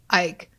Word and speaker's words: Icke: This individual's name is spelled I-C-K-E, which is probably Ike.